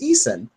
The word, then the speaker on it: Eason: You was right, Kim. I'm sorry. It is Eason.